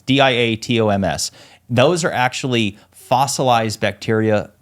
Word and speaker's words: diatoms: It's diatoms.